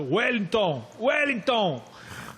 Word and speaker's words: Ueilton: My favourite, there's a Wellington out there, which is spelt Ueilton. Totally phonetically, the way they say it. Wellington.